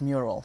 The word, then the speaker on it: MURAL: Respect and Love, and we're going to call it Mural. That's how you say it for short.